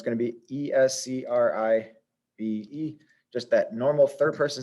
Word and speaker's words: escribe: Now, this has 3 syllables, escribe. The second to last syllable is, the vowel is the I, the second to last syllable. That's the stressed vowel. That's the stressed syllable, escribe, escribe. It goes up in that second syllable and the second to last syllable. And there's no need for an accent mark because that's the rule.